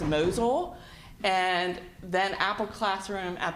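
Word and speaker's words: Mosyle: the iPads um that first software item is pronounced mosul and then Apple classroom at the high school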